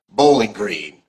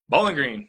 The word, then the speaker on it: Bowling Green: I was working for For those who don't know Kentucky, that is the correct way to say Bowling Green. Bowling Green. Bowling Yeah, Green, yeah. right? There's no Okay, G on the end of there.